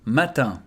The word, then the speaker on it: matin: Matin. Matin. So I and N together becomes un. So here we pronounce everything matin.